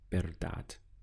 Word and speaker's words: verdad: La verdad. The sound is ver because we have the V, which always gets pronounced like a B. So the first syllable is ver, and then we have dad, la verdad.